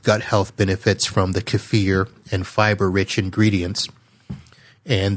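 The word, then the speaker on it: kefir: boosting Shake is two cups of plain lowfat cafir and yes I did say that right because I looked it up it is spelled k f i uh cafir is what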